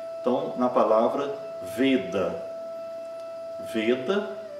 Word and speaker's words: Veda: Veda, a semivogal V está no início da palavra, é pronunciada normalmente como nosso V.